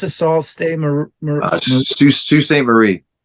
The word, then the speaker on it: Sault Ste. Marie: Sault Ste. Marie. I know it's like a French pronunciation, but yeah.